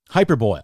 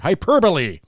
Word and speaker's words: hyperbole: out of your ass hyperboil you know is that the terminology am i saying it right hyperbole so that's the word hyperbole yeah makeshift gaslighting you're